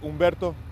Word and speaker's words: Umberto: last name as well as your rank you spell it out my name is captain Berta el OPEC Berto be well it's umberto hu m ve RT o fox company for